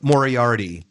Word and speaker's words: Moriarty: The second one is going to be Colin Moriarty. Both of them have How do you spell that last name? Moriarty, like Dr. Moriarty from Sherlock Holmes.